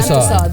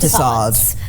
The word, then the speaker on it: Tussauds: Tussauds. Tussauds.